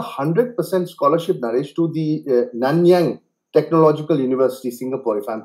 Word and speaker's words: Nanyang: you got a 100% scholarship Nish to the nanyang Technological University Singapore if I'm pronouncing it right isn't it yes yeah I